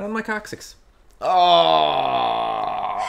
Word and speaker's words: coccyx: The coccyx is basically your tailbone. Yeah. You pronounced it wrong, by the way. It's coccyx? It's coccyx.